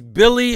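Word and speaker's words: Willy: to be it's it's it's a w but it's in his country they pronounce it with a B so his name is Billy hernand uh Gomez he's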